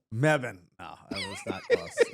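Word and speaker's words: Mebane: b a n e yeah maban it's closed meban meban oh that was that close that was way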